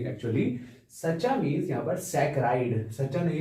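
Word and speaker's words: saccharide: सच्चा मींस यहां पर सकरा इड सच्चा नहीं है ये सच्चा मतलब स्पेलिंग जैसी है इसकी तो सकरा इड्स पढ़ते हैं इसको क्या पढ़ते हैं सकरा इड्स क्योंकि लैटिन वर्ड आता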